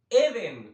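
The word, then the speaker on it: אדן: Esta base es Eden, o sea, esta base en la concordancia tiene un acento en la primera E. La primera E es Eden.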